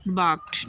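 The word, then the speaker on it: barked: बाक्ड, ठीक है, भौंकना, इसमें आर साइलेंट है।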